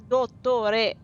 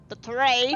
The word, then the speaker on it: Dottore: It's Dottore, not Dottore.